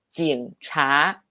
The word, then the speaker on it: 警察: Yes, 警, stronger nasal pronunciation, 英 and 茶, 警察.